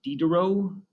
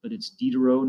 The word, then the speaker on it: Diderot: name is pronounced Denis Diderot sometimes people like to pronounce that T but it's Diderot none Diderot that's the